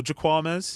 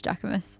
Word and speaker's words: Jacquemus: Is it Jacquemus or Jaquames? No, it's Jacquemus.